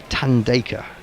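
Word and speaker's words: Thandeka: Oh right, now the H is silent on my name. Says Tandeka.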